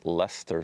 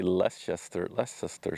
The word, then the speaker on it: Leicester: I always find it funny when I'm in London and the metro thing announces Leicester Square. Where's the ESTR part? The EST part. I would say Leicester Square.